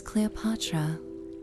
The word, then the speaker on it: Cleopatra: In Greek, it is Cleopatra, but in the Egyptian of her time, carved in the cartouche on her monuments, it would have been spoken closer to Cleopatra. The hard C becomes a K, the L remains, the E and O blend into a U sound, and the T softens toward a D.